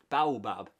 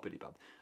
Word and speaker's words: baobab: the freckled Tech said Baobab Edwin pronounced slowly and patiently they decide to agree with the Billy Bob tree not Billy Bob uh I wish the